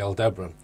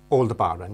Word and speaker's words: Aldebaran: So the Mott that Ross and I visited in Morganstown was actually Aldebaran. No. Alder Barren, yeah, Aldebaran, yeah.